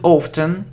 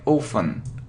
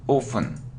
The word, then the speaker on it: often: It isn't often, yeah, so we normally pronounce it without t. We normally, yeah, do it without t, so we mostly hear it like often, often.